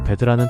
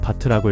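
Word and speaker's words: Bad: 독일 여행을 하다 보면 여기저기 베드라는 단어가 붙은 도시들을 많이 보게 됩니다. 베드, 나쁜 거 이렇게 생각하실 수 있는데 전혀 아니에요. 독일어 베드는 바트라고 읽고 영어의 베드와는 완전히 다른 뜻입니다.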